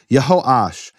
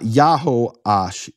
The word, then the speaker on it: Yehoash: of the name, it's always Yeho. And nobody disputes that in the history of the Jewish people, because there's never been a ban on speaking those names. Let me read you some of those names. Okay. Yehoachaz, Yehoash. It's not Yahoash, Yahoachaz. That's made up Hebrew from people who don't know what they're talking about.